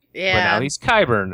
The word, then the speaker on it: Qyburn: even if it's wrong so yeah it's qyburn but with a cue at the beginning so in my head he was quiver but now he's qyburn it's like okay one